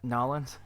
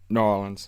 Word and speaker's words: New Orleans: But now, is that how they say it? Norins? Yeah. New Orleans.